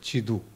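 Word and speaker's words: 基督: 이것 을 한자 로 쓰면 기도 ( Gidok) 가 됩니다 . 중국어 발음 은 지두 입니다 .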